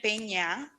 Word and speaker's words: Peña: And I realize that many people can't pronounce it because the ñ is not a letter in the American English alphabet, but it is in the Spanish. So it's an N with a little thing on top, and it's Peña.